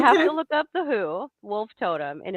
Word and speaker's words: Hu: So you have to look up The Who, Wolf Totem, and it's spell it again.